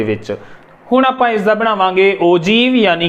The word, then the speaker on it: ogive: हुण आपां इसदा बनावांगे ओजीव यानी कि तोरण। हाँ जी, इनू ओजीव बोलते ने, वर्ड है OGIVE, सो प्रोनाउंस हुंदा है ओजीव इस तरह।